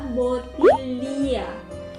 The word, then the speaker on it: bottiglia: in Lasagne = Lasanye But if you find "GL" word, you have to pronounce it like "Lye" So let say you want to say "Bottle" in Italian So it's Bottiglia = Botilya B-O-T-T-I-G-L-I-A =